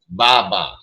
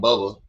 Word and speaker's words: Baba: Uh Baba, not Bubba. Ba is the correct pronunciation and the word Baba means father.